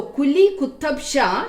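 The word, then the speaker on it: Quli Qutb Shah: And the founder of this dynasty, that was Quli Kutab Shah. Quli Kutab Shah. Spell it Q-U-L-I-Q-U-T-U-B-S-H-A-H. So Kuli Kutab Shah, he was the founder of this dynasty.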